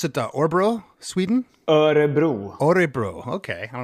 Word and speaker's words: Örebro: Do you pronounce it Örebro, Sweden? Örebro.